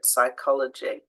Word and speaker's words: psychology: silent n Autumn condemn silent P to start a word psychology pneumonia silent s so uh